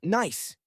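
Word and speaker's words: gneiss: The ground is largely covered in loose gravel interspersed with ancient rocks composed of granite and something called ginise, pronounced nice.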